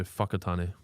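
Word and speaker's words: Whakatāne: Mudge says wa is pronounced fu in New Zealand. So whakatane.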